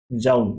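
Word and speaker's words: joule: मैं अपने समय के अंदर इसको जाउल बोल देता था, कुछ इसको जूल बोलते हैं, जो भी आप बोलना बोलो, ठीक है।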